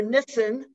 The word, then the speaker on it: Nissen: Hi, Nissen, or Nissen, as I believe is the correct pronunciation.